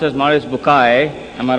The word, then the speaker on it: Bucaille: scientist and a scholar of quran dr maurice bukhail pronounced as maurice bukai am i right doctor doesn't matter okay uh